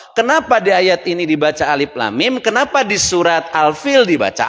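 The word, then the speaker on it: الم: Dibacanya alif lam, lamnya panjang sampai dengan 6, kemudian ada tasjidnya guna 3 ketukan ya. Kemudian mimnya 6 lagi karena panjang-panjang gini.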